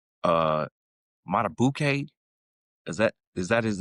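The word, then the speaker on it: Madubuike: Matabuke, is that his name?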